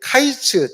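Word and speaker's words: קַיִץ: 이게 카이츠 또는 캐츠라고 해서 거의 같은 발음이라서 이 여름 광줄이 보이지 캐치가 보이지 이들은 카이츠가 될 거야.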